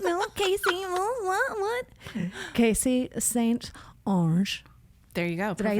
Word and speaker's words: St.Onge: St.Onge.